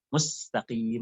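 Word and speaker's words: مستقيم: Mustaqim, mustaqim.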